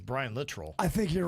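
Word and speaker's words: Littrell: Literal. Literal. Literal. I think it's Brian Litrol. Not And I I always said Latrell. I think it's Brian Litrol.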